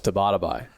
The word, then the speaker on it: Tabatabai: How do you say my last name? I thought it was Tabatabai. It's pretty close.